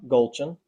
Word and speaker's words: Gulchin: Zillow, look up Gulchin. You can see her. Am I pronouncing that right? Yeah, you said it perfect.